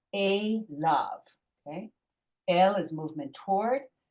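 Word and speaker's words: אֵלָיו: Remember, kamatz yud vav is you ignore the yud. That's just the way it's pronounced. Don't ask me why. The rabbis decided that's what they were going to do. So it's a lav.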